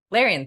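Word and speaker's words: Larian: her name correctly ever she's a gethianki lyrion larion thank you larion Studios um I don't know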